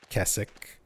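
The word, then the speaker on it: Keswick: And in Silent Hill 2 remake, they actually reference Kessik. Um, which is, for anybody looking it up, it's spelled Kzwick. Kei CK.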